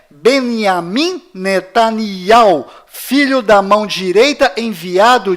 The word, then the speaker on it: נתניהו: Bom, voltando ao assunto, fora de Israel, o nome deste primeiro-ministro é pronunciado Benjamin Netanyahu, mas dentro de Israel, o nome dele é pronunciado Benjamin Netanyahu. Confira.